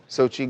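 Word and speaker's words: Xochitl: How do you pronounce Okay. that? Sochi Gomez.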